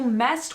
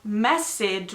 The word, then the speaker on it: messed: "You messed with the ecosystem." (Te metiste con el ecosistema.). La pronunciación no es MESS-ED. No se pronuncia la segunda e.